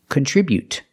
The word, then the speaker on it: contribute: T contribute contribute but the stop T is more natural and more common contribute to stop the air with the tongue and don't release the T contribute remember to put the stress on the second syllable contribute contribute besides I